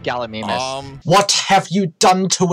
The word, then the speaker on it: Gallimimus: I think that one's called Gallimimus. What have you done to its pronunciation? It's pronounced Gallimimus. Not Gallimimus.